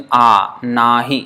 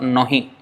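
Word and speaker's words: নাহি: That means nahi. It's not nohi.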